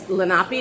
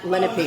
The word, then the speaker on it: Lenape: show you okay so it's how do you pronounce it it's lenapi not lenp right l l tomato tomato right right so